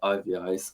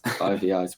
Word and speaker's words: Eyeveyes: It's I think we initially started saying Eyeveyes or something. Yeah, I feel as though that's how people read it, but yeah, for some reason we like to say it Eyeveyes. Eyeveyes. We've recently put a pronunciation thing on our description, so I think